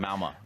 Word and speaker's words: Malmö: But Malmö, to make sure you say it right.